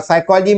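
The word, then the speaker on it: psychology: और साइकोलॉजी में P silent है, इनका उच्चारण नहीं होता लेकिन हमको लिखना पड़ता है, परंतु देवनागरी में आपको इस प्रकार की जटिलता दिखाई नहीं देती।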